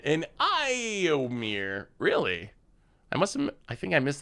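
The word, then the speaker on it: Éomer: It's pronounced Iowin and Iomir.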